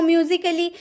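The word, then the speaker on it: musically: Word दिख रहे हैं जब जब ए के बाद डबल एल वाई रहे आपके किसी वर्ड में तो ए का उच्चारण नहीं किया जाता है।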